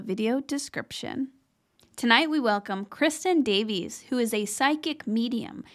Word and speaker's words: Kristin Davies: Did I pronounce that correctly? Yeah, Kristin Davies.